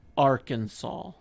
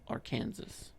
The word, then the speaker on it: Arkansas: will go to jail sir now you must pronounce the state name correctly oh arkansas not our kansas it's our kansas it's also illegal in arkansas